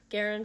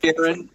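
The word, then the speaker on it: Guerin: But so you're at, how do you pronounce the name of your school? Garin Catholic. Garin.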